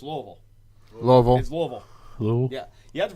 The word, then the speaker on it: Louisville: Louisville oh wait no we can't call it Louisville it's lovel lovel lovel whoo you have to pronounce it with this little a little vowels